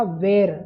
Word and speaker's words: were: जगह हम वॉज या वर का इस्तेमाल करेंगे। हाँ वर जिसे स्कूल में सिखाया था वेर, WERE, उसका सही उच्चारण होता है वर।